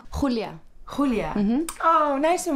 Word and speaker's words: Julia: Do I pronounce it right? Yeah, Julia.